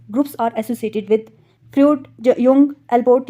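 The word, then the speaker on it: Jung: युंग हम इसको pronounce करते हैं, जुंग पढ़ना है तो आप कर सकते हो, वैसे इसको युंग पढ़ते हैं।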